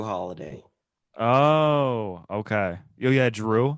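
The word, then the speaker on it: Jrue: Drew.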